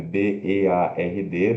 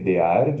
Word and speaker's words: beard: Se escreve B-E-A-R-D, beard, né? Mas B e curto, schwa R-D. Beard, beard.